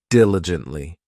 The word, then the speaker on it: diligently: This adverb has 4 syllables, and the stress is on that first syllable, diligently.